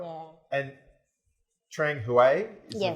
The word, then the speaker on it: Trang Hue: yeah right yeah and trang huey is the right pronunciation of your restaurant that's the village you're